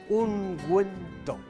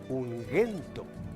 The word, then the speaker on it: ungüento: Y esto, señores, ungüento. Si no llevara estos dos puntitos llamados diéresis o crema, esto se pronunciaría ungüento, como Miguel.